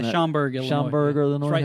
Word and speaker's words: Schaumburg: Appreciate that, but is that Schaumburg? Maybe I'm pronouncing that. Schaumburg, Illinois.